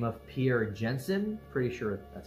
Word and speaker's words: Pierre Janssen: And this gas was first discovered during a solar eclipse by this French astronomer by the name of Pierre Janssen, pretty sure that's how you pronounce it.